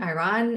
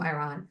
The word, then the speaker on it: Iran: She was from Iran. Oh, okay. So she was almost like my godmother. So I always say Iran. You say it's Iran? Yeah, Iran. So I'm pronouncing it wrong.